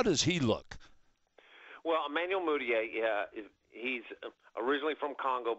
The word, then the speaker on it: Mudiay: the eye test now Emanuel how do you pronounce his last name mudiay mudiay mudiay now he chose to go to